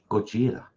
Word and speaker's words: Gojira: Gojira. That means giant lizard in Japanese. Gojira, I think. That's where the name Godzilla comes from, but in Japanese it's Gojira.